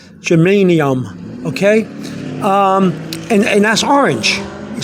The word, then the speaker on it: germanium: word down is to say to yourself, German, I am. Like I am German. German, I am. So somebody asks you, are you German? You say, German, I am. That's how, so you know how to say the word, germanium.